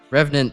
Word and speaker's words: revenant: Three syllables. Wait, what? Revenant. Art pile. Rev bundant.